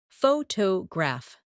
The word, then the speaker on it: photograph: For example, photograph, photographer, and photographic. The stress moves, and that changes the sound.